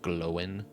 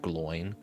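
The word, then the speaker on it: Glóin: I think that's pretty pretty consistently pronounced well, but I think uh Tolken specifically would have pronounced it glowin, not Gloin, which makes it so that the that Glowin's father is Groin, not Groin.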